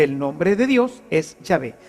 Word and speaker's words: Yahvé: así y y no Jehová que simplemente una una literación se fue haciendo una literación se fueron metiendo las vocales de adonay dentro de la palabra del tetragrama para que los judíos